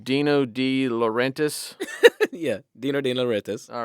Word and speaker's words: De Laurentiis: said it right, De Laurentiis.